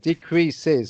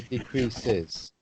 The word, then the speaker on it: decreases: leprechaun decrease that's right decreases so you need to pronounce the s at the end of that word third person singular so decreases decreases yes beginning with